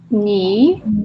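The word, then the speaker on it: 你: Ni que é terceiro tom, né? I prolongado.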